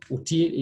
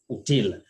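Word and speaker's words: outil: Yeah, so util is uti. We say uti, not util.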